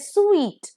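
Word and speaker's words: suite: स्वीट ठीक है अ स्वीट elongated pronunciation not स्वीट अगर स्वीट बोल दिया तो एस डब्लू E double E टी हो जाएगा जिसका मतलब है मीठा पर इट इज स्वीट एस यू आई टी ई स्वीट जिसका मतलब है सेट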